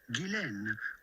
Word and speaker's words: Ghislaine: And in French it can be pronounced either Ghislaine or Ghislaine. But in British, as is the case for her first name is generally pronounced Ghislaine Maxwell.